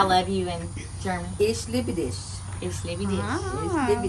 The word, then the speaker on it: Ich liebe dich: Ich liebe dich.